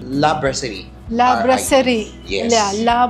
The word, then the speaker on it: La Brasserie: La Brasserie.